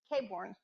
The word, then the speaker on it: Claiborne: Tonight we have our consultants with GAI, Kristen Claiborne. Is that how you say it? Claiborne.